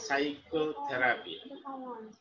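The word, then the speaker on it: psychotherapy: পাইকো পাইকো থেরাপি কিন্তু পি টা এস এর মত মানে অর্থাৎ এই পি টা সাইলেন্ট এই প্রথম যে অ্যালফাবেট পি টাই এটা সাইলেন্ট তাহলে সাইকোথেরাপি ঠিক আছে মনস্পতি চিকিৎসা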